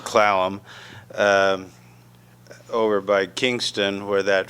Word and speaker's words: Clallam: Sequim Washington and then the port gamble slaloms which was in those days pronounced Clallam over by Kingston where